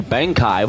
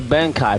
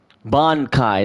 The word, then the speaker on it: Bankai: Bonkai. Not no Bangkai.